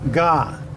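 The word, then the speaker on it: 尜: Well, this is Ga. It has a small on the top, a big in the middle, and a small on the bottom. It's pronounced Ga.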